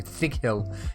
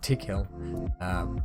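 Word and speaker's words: Tickhill: So anyone that has those tips or those pronunciations or anything, much like back in the day I kept saying Thick Hill instead of Tick Hill, please let me know.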